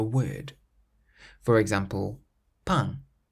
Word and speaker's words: pain: A nasal sound is produced in French whenever you have a vowel followed by the letter M or N at the end of a word. For example, pain, pain, meaning bread.